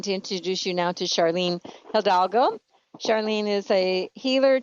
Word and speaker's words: Sharlyn: the trees so welcome Charlene oh thank you you pronounce my name Charlene but nobody can ever say it right so it's Just sh and Lynn and now maybe if